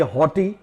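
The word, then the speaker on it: haughty: तो सबसे पहले हम देखते हैं ये हॉटी, हॉटी HAUGH, ये जो GH है ये यहाँ पर साइलेंट होता है और इसका अर्थ होता है घमंडी, हॉटी घमंडी।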